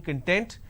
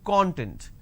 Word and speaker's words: content: me the training content it's not training content it's training content so these are the